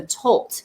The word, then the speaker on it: tölt: have something special called the tolt am i saying it correctly the tilt yeah touch yeah very close very close so it's an awesome